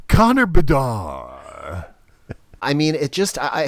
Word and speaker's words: Bedard: It's almost like the D should be silent at the end. Connor Bedar.